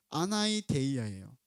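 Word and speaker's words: ἀναίδεια: 자, 여기에 보게 되면이 간청함이란 단어가 나오는데이 간청함이라는 단어의 헬라는 아나이데이야요. 아나이데이야. 저희 이렇게 꼬부랑 된게 저 D 발음이거든요. 아나이데이아인데이 아나이데이아의 그 원래 원어는 뭐냐면 아이도스라는 단어입니다.이 아이도스는 수치 뭐 염치 예의인데 반의어로이 아나 a an가 반대의거든요.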